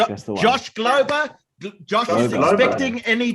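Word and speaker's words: Glauber: I apologize if I pronounced your name incorrectly. Galber. G-L-A-U-B-E-R. Josh, G-L-A-U-B-E-R. That's correct. That's the one. Josh Glober.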